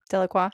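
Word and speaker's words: Delacroix: Deloqua.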